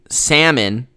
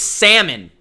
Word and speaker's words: Salmon: by the way mitch is it saleman salmon or som i think it's salmon that's how you say it i don't know why you gave me three different pronunciations it's salmon that's what it is anish says what